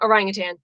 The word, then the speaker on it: orangutan: ask how it's pronounced there is no g in the name orangutan oh now they're all